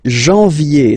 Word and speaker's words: janvier: But anyway, janvier, so that's the way to pronounce it. Janvier, A-N, en, okay, and then ye, janvier.